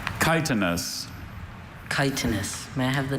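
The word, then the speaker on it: chitinous: Kitenus. May I have the part of speech? Adjective. Are there any alternate pronunciations? Just the one. Kitenus. Kitenus. C H I T I N O U S. Kitanis.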